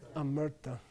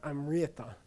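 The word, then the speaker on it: अमृत: Amrita. Okay, it's a vocalic R, not Amrita.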